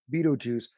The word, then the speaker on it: Beetlejuice: I mean he plays beeto juice which I don't really understand how you pronounce p beeto juice with the way it's spelled it's more like Beetle well ale like Alex's